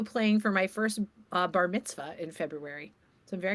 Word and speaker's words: bar mitzvah: You didn't say it right. It's bar mitzvah. Bar mitzvah. Baritzv. Do you know it's a V?